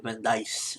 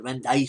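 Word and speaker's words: Vindice: really destroy the the vanise I know I keep saying Vani but apparently it's supposed to be pronounced vanise so hopefully I'm saying it right and uh yeah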